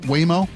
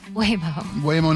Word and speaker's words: Waymo: I say that because not only have I been corrected on numerous occasions today, so I say it's pronounced Waymo. Waymo, not Waymo, like I've been saying for the last 7 years.